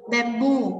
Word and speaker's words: bamboo: Bamboo, mặc dù là danh từ nhưng cái đuôi o này sẽ nhấn vào chính nó.